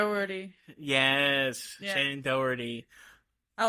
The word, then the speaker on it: Doherty: a silent H that isn't silent in there. Doherty.